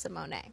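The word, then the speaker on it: Symoné: just Raven Simone is easy but it is pronounced Simone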